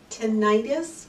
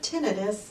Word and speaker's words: tinnitus: Tinnitus or tinnitus are both correct.